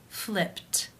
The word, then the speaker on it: flipped: In the infinitive, the final sound of the verb is p, which is unvoiced. Therefore, it is case 1, and the ed is pronounced as a t. Flipped, flipped.